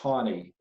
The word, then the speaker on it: Taney: After Marshall died, Chief Justice Roger, it's pronounced Taney, was appointed.